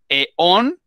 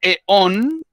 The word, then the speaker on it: eón: Eón es un espacio macrotemporal, o sea, de cientos de millones de años. O sea, imagínense todo lo que eso implica. Entonces, en el primer eón, acento en la vocal O, en el eón